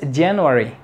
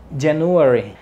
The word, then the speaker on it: January: January January no es January como lo he escuchado que lo dic no es January es January después tenemos t tourist para